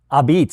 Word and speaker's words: Ah-Beetz: So, for our viewers here, it's spelled a pizza in New Haven, but it's pronounced Abs.